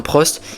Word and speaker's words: Prost: Et oui, parce que depuis tout ce temps, on prononce mal son nom de famille, c'est pas Alain Prost, mais Alain Pro.